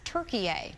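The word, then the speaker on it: Türkiye: Officials have notified the United Nations, asking that the country be referred to as Turkiye, the way it's spelled and pronounced in Turkish.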